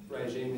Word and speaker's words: regime: It's like sh, but it's voiced.